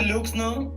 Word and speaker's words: Leukzno: Bueno, pues yo soy Luxno, o Luxno, como le dije hace rato a Maya, pronúncienlo con hueva para que no les provoque conflicto. No se preocupen por eso. Se escribe Leuxno con KZ, así me encuentran en